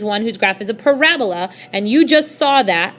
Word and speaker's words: parabola: That is a parabola. It's not parabola, it's not Ebola, it's not a disease, it's a parabola. So please make sure you accent the correct syllable, parabola.